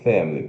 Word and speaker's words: family: E tem duas formas corretas de pronunciar também, né? Tem aqui, ó, o apóstrofo indicando sílaba tônica, F-A-E-M, fam, schwa, fam, L e longo, a big family. Ou você pode cortar esse schwa aqui, não? Então, ó, dessa forma, family, family.